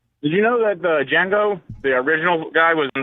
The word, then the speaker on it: Django: and he's like uh the D and Django is silent and the guy goes I know I was the original guy who played Django oh nice oh oh